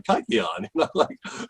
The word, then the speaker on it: kykeon: i pronounce it it's it's not the way a modern greek would pronounce it i have what's what's